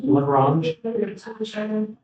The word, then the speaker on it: Lagrange: That's pronounced Lagrange.